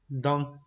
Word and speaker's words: dans: La pronunciación de esta combinación c'est A. Por ejemplo, dans.